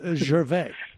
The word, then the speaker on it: Gervais: way Ricky Gervais is I'm pretty sure it's Ricky Gervais he doesn't pronounce maybe he's on the lam I don't know but it's Gervais Ricky sure they don't